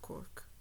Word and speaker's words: Cork: I am saying Cork, Cork, Cork, Cork. Okay, like the city in Ireland.